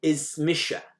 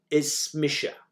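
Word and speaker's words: Is mise: My name is in Gaelic, though we use a more emphatic form of me and we say Ismisha. I am. Ismisha.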